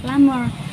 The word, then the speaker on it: plumber: ada sebuah kesalahan karena cara bacanya itu adalah plumber. Seperti yang kalian lihat, huruf U dalam kata ini tidak dibaca IU, tapi A. Lalu huruf P dihilangkan, jadi kita membacanya plumber.